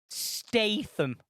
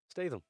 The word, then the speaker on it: Statham: It's Statham. You had to mispronounce it, didn't you? Yeah, You of knew course that was I- coming. Tell us how you really say it. Statham.